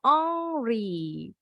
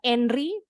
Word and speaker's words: Henry: bola tadi tieri Henry Padahal dia orang Perancis sebenarnya pengucapannya tieri ori angry Jadi bukan Enri angry Oke kita lanjut